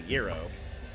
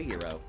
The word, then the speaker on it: gyro: Find out some years later that it's really up to the fact that uh in Greek it is properly called a hero.